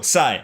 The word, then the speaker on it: Sai: Yo, Sai. All right. Z Y Sai. That rhymes with pi for Python.